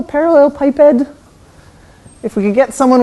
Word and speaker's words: parallelepiped: a parallel something so I think it's pronounced parallelepiped this is one of these words that have only ever read in English I don't say it very often so I think this is called a parallelepiped if we could get